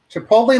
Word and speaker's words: chipotle: hard to see it's chipotle oh yeah and good job on the pronunciation a lot of people mess up that l t combo yeah man chipotle like nick noley can't go wrong it's